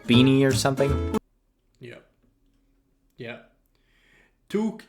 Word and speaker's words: toque: or something yeah yeah toque is the French term and T in fren in like one Tu in fact let me tell you that that's how we pronounce it in French but yeah it's pretty